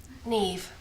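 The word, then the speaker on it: Niamh: be you n Amma Neeve rhymes with sleeve that' be Celtic would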